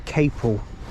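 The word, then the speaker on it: Capel: Oakley and he actually told me how it's pronounced the it's not Capital it's Caple that's how you say it just just to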